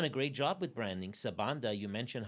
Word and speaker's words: Sebanda: And no matter where in the country you grow, it's gonna be pronounced Sabanda. There's only one way to pronounce it, right?